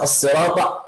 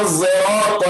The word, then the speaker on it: الصراط: So you pronounce صاد with a little bit of taste of the letter zay. So it's a mix of sad and zay.